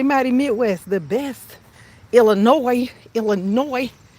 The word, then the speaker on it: Illinois: Illinois. Don't be pronouncing that S. You say Illinois. The S is silent.